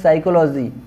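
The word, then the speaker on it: psychology: silent है यहां पे क्या है साइकोलॉजी पी साइलेंट है यहां पे नेशनल यहां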